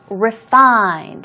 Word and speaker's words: refined: dramas what a refined refined here we go stress goes on the second syllable and as I told